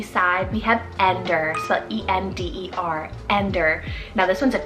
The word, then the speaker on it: Ender: on the edgy side we have ender so e-n-d-e-r ender now this one's a turkish rooted name